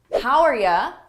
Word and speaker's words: how are ya: How are ya? That's a connected phrase. How are you? How are ya?